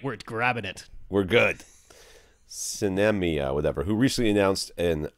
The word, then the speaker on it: Sinemia: In particular, what about Sinemia? Sinemia? It's like cinema, but spelled with an S instead of a C, and then Mia instead of Ma. Sinemia, anyway. Sounds like sin and enema stuck together, which is never...